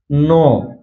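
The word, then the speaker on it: knee: जब भी किसी वर्ड में यन से पहले के आता है तो वहां पर के साइलेंट रहता है। जैसे नो, नो में आप देख सकते हैं यहाँ पर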